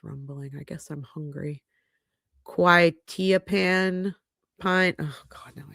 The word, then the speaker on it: quetiapine: also found, oh God, I forgot how to pronounce this. My stomach is rumbling. I guess I'm hungry. Quetiapine pine. Oh God, now I have to look it up. How do you pronounce? There it is. Quetiapine.